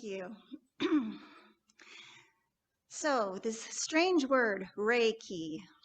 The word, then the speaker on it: Reiki: So this strange word, Reiki, it's Japanese. It's pronounced Rei, like rays of the sun, and Ki, like you're going to use a key to unlock something.